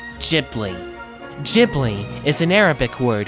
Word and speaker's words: Ghibli: Technically, the correct pronunciation is Ghibli. However, due to differences in pronunciation between the Japanese and Italian languages, the name ultimately became pronounced as Ghibli.